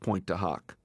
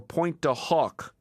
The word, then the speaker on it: Pointe du Hoc: pronounced point to Huck should RR use point to Huck or point to Hawk Darman wrote on White House stationary to Elliot should he try the French pronunciation Deaver wearing primarily about the morning TV audience made the decision that Reagan's diction would be American not French phonetically he would say point just like West Point de hook like the